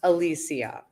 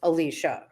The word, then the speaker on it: Alisha: oh my gosh Mammy or whatever you actually pronounced my name correctly and it's definitely not Alicia it's Alicia so that was your that was like your